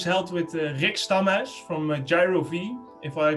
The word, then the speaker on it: Jiro-Ve: No, you did a quite a job. It's Jiro-Ve. Also, a special word of welcome. With a Dutch accent, that's correct.